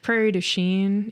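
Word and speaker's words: Prairie du Chien: Prairie Duchene, if you want to pronounce it not the French way, right?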